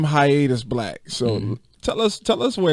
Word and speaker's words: Hiatus Black: name or the stage name your stage name hiatus black okay just be like hi this I'm like